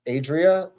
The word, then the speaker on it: Adria: spell that she just she's just like Adria it's like Adrian but without the N it's just an a at the end you like you like